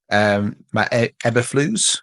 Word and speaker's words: Matt Eberflus: And I think one of the biggest issues they had was their coach, Matt Eberflus. That's how you pronounce his name.